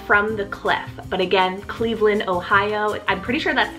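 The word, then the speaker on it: Cleaveland: So this one's spelled C-L-E-A-V-E-L-A-N-D, Cleveland.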